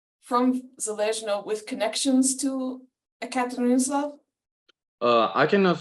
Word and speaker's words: Yekaterinoslav: Okay, my 4 times great grandfather immigrated with family from Ekaterinoslav, I think is how it's pronounced. Sorry, I can get the name of a place from. Oh, Ekaterinoslav. Yekaterinoslav, it's Ukraine.